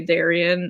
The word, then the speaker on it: Darion: say it so like whenever french teachers ask me how to pronounce it i would just say darien and then they would try to say it with a french accent but like they would say it the english way because i don't like